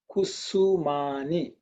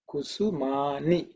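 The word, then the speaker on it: कुसुमानि: So in this case, it's the dental sa, kusumani, kusumani. Again, see this ni is a dental ni. Okay, not the ni. This is softer ni, which is a dental.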